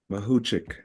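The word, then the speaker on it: Mahuchikh: Mahuchik.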